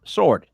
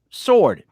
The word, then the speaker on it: sword: do you pronounce it sword you put the w back in how do you pronounce it sword i don't understand why there's a silent w in that word i was trying to